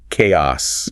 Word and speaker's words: chaos: But here that C makes a hard K sound just like in character orchestra. Ah okay. So the mistake is chaos. The correct pronunciation is k. Chaos.